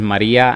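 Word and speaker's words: murraya: So the pronunciation of this word is Maria, and this is what she pronounced properly.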